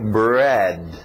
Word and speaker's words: bread: Bread. Bread. Engole esse D no final, bread.